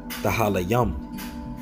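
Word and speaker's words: תהלים: All right, and it's when you go into the book of Psalms in the Hebrew, it's pretty much pronounced Tahalayam.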